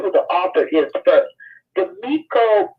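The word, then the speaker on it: Demico: Demiko Booth.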